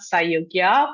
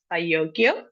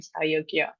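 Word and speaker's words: Sajogyo: It's not Sayogya, but it's Sayogyo, and our organization is named after him, which is Sayogyo Institute.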